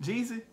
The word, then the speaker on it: Jeezy: Jeezy.